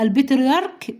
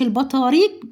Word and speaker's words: البطريرك: البطريرك بنيامين، مش البطاريق بنيامين، لا البطريرك، عشان تنطقوا الاسم صح عشان تقدروا تكتبوه صح.